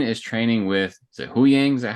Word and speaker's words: Huyang: We get a scene which is, well, actually before that scene, Sabine is training with, is it Huyang? Is that how we pronounce it? Yep. She's training with Huyang, and he has these things that look like lightsaber hilts that he's holding on to.